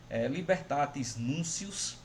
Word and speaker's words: Libertatis Nuntius: Libertatis Nuncius, se escreve Libertatis Nuntius.